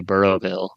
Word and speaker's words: Burrowsville: name at some point the S is silent or the isible I don't know but both granny and Buster say burrow bille so interesting interesting okay